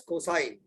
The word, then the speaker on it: cosine: this cosine we remember cos wave we call it as cos but we prob we have to pronounce it as cosine we generally pronounce it cos understood this clear is